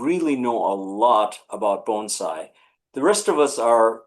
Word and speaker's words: bonsai: It's b o n e s i g h with the accent on the first word bonesai. It's not bonsai. Bonsai is the charge word. It's bonesai.